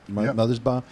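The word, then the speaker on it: Mothersbaugh: those pieces in fact uh including uh Mark mothers ba is that how you say it mothers ba you got it buddy uh from dvo so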